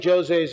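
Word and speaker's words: José: So they got Fina de Armada and Jose Machado, in Portuguese it's Jose, it's not Jose, it's Jose, that's how it's pronounced.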